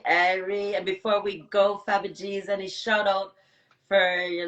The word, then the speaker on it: Fabigeez: But it's really Fabagees, but it's however you pronounce it, however you can. Baby, like Fabian, yes, got you. You know what I mean? But it's Fabigeez, you know what I mean?